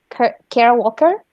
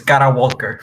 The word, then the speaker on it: Kara Walker: Sí, es que lo pronunciaste medio americana. Estoy diciendo que en español es Cara Walker, para los que la quieran buscar en Google.